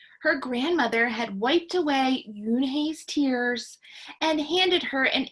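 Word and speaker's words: Unhei: asked yoon hey said the girl asked scrunching up her face some kids chanted no no yune corrected it's spelled u-n-h-e-i it's pronounced yoon hay oh it's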